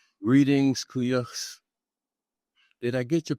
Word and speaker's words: Kuuyux: Greetings, Kuyuk. Did I get your pronunciation of your name right? Yeah, you got it exactly right. Kuya, thank you.